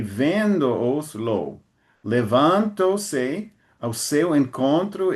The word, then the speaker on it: levantou-se: So it should be levanto-se. levantou-se. Okay. Levantou-se. Thank you.